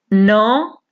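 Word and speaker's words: know: नो, जानना, इसमें के साइलेंट होगा, ठीक है।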